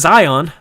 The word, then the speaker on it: Zion: eight rebounds zion had is it zai it's zion right where is it zion